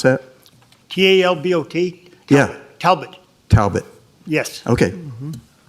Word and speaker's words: Talbot: there how is it yeah how do you pronounce that t-a-l-b-o-t yeah Talbot Talbot yes okay yes good morning